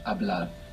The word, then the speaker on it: hablar: Hablar. It's spelled H-A-B-L-A-R. What's happening with that H? Silent. Silent. Totally silent. Hablar.